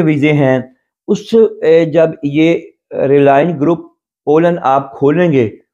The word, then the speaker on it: RALEN: جو گروپ کا نام ہے، اس کے گروپ کا نام ہے RALEN، ریلائن. ہم ریلائن بولتے ہیں، آپ پتہ نہیں ذرا ہمارا جرمن میں ڈیالیکٹ ذرا چینج ہے.